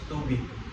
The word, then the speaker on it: tubig: Yeah, it's like in English tubig. Yeah, It's like too big.